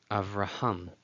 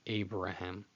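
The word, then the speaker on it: אַבְרָהָם: going to see where the letter vet gets transliterated into English as a B, which is how we have the name Abraham. In Hebrew, Avraham.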